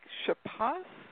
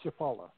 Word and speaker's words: Chapala: living on, I think it was said, Lake Chappas. Is that right? How do you say that? Lake Chapala.